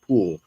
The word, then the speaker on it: Pole: picture up, Cardinal Reginald Poole. Now, Poole is usually spelled Pole, but the actual pronunciation in English at that time, it's Poole.